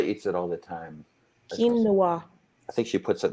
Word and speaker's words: quinoa: can show a picture of it forget it it's spelled q-u-i-n-o-o-a angela eats it all the time quinoa i think she puts it in my food